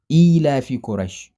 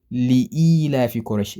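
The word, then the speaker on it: لإيلاف قريش: You see, back in the day, I used to think Surah Al-Quraysh used to be Ila fi Quraysh, until I realized that that's not how to pronounce it. That's not the proper way of reading it. I omitted a letter called Lam. It is meant to be Li-ila fi Quraysh, Li-ila fi Quraysh.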